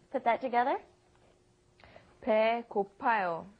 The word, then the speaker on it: 배고파요: 배고프아요 is almost impossible to pronounce, so it becomes 배고파요.